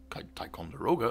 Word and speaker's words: Ticonderoga: those models get released and the taikon their Ticonderoga assault Airship that's how you say it is